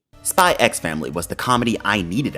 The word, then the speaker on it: Spy x Family: I'm calling it that, I'm pronouncing the X. Fight me. Spy X Family was the comedy I